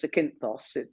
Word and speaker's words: Zakynthos: That's spelled with a Z, Zakynthos.